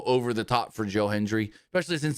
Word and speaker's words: Hendry: I don't get the whole Michael Cole being so over the top for Joe Hendry, especially since he can't even say his name right. He calls him Joe Henry every time just like Jordan Grace does.